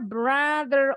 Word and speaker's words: brother: Nah, ini bacanya brother. O-nya bunyinya A.